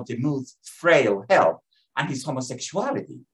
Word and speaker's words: Demuth: And I'm using the most common pronunciation of his last name, Demuth. He pronounced it Demuth, and his close friends called him Dean.